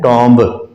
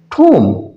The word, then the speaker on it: tomb: जैसे ये है TOMB, हम इसको अमूमी तौर पे पाकिस्तानी लहजे में पढ़ते हैं टॉम्ब, ये टॉम्ब नहीं है, ठोम, ठोम।